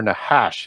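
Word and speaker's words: נחש: And so what the Bible tells us, though, is that it is the Nakash, or Nahash, as it would be pronounced in Hebrew.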